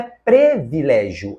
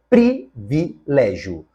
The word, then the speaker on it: privilégio: conforme a norma padrão você sabe que beneficiente está errado é beneficente correto Como você sabe também que não se diz freiada mas freada assim também não é impecílio é empecilho E finalmente não é previlégio é privilégio portanto das palavras que estão